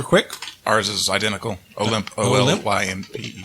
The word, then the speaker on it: Olympe: Olymp? OLYMPE. I always pronounce that Olympi, by the way. No, her name's Olymp.